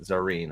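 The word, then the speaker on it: Zarine: Zareen. I always forget how to pronounce her name.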